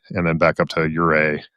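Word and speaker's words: Ouray: then back up to Ura, which is spelled O U R A Y.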